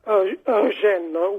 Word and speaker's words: Eugène: Eugène, with the emphasis on the gene, because we have an accent sloping backwards after the second E.